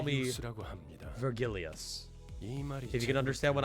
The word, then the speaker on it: Vergilius: It's fucking Vergilius. That's kind of how he pronounced it.